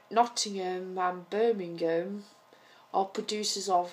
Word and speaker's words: Nottingham: the Americans they say Nottingham so it's like noting space and ham that that that it's not um one word in the same say Birmingham so they they emphasize the ham so it sounds like